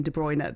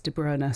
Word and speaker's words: De Bruyne: Now, for about nine of those 10 years, we were calling him Kevin De Bruyne. Then we got all the videos as commentators of players pronouncing their own names, and it's De Bruer.